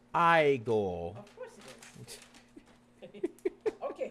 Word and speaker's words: Igor: That's Eigore. What? That would be No, no, no. It's pronounced I go.